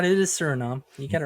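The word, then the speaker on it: Suriname: I may have been pronouncing it wrong. Who knows? No, you're right. It is surinom.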